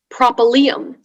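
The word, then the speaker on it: propylaeum: hello hi your word is propylene propylene i have all the information please sure so propylene that's the only pronunciation it's a noun latin from greek a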